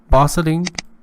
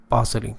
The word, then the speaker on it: bustling: Okay, bustling, so crowded and densely populated. Densely populated and so crowded. Bustling. Remember, the sound T or the letter T is not, or T is not pronounced.